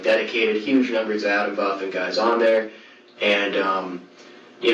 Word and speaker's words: Atomwaffen: dedicated, huge numbers of Adam Buffen guys on there, and you know, I remember Adam Buffen, like I say Buffen because it's like Buffen is in arms.